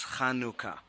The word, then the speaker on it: Chanukah: And it is pronounced in the Hebrew as Chanukah. Okay, because I have heard it pronounced that way. Right, but it is pronounced now as Hanukkah, and more the stress is on the other part of the word.